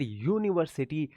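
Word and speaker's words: university: यूनिवर्सिटी य का sound आया है।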